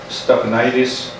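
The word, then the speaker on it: Stephanides: It's Pentecotus Stephanitis Ficino. They called him Peter. Can you spell it?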